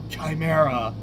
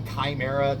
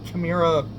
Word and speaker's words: Chimera: thing like project CA I know the word is probably Chimera to me Chima rolls off the tongue way better so even I'm pronouncing it wrong apologize that's how I